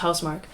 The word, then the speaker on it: Housemarque: That is the spelling, but it's actually pronounced Housemarque.